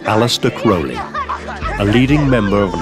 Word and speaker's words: Crowley: in his name some people pronounce this name Crowley and some Crowley in his own writings he said it's pronounced Crowley it runs with Holy One Day in Cairo